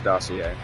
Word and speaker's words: dossier: Yes, that's how you pronounce that, as dossier.